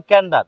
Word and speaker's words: Candour: ধর মানে ভুল উচ্চারণ আর উচ্চারণ হবে হলো ক্যান্ডার কিন্তু এটা যদি মানে